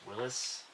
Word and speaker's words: Willys: And that Willys is actually pronounced Willis.